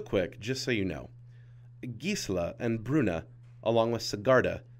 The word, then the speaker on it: Gisela: your pre-release listen closely and learn how to pronounce those angels real quick just so you know gisla and Bruna along with sarda are old Germanic